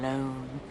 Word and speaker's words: Lone: Tom Lone. Rhymes with cone, phone, bone.